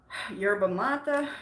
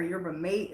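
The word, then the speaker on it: yerba mate: and speeds things up yerba mata i was just talking about that or your mate as some people might pronounce it is another good one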